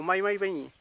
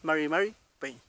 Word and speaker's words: Mari Peñi: Mari Peñi o Mai Peñi, ¿ya? Un poquito más suave la pronunciación. Lo más probable que quizás usted lo haya escuchado así, ¿ya? Pero es Mari Peñi. Esa es la forma de pronunciar, en este caso, la R, ¿ya?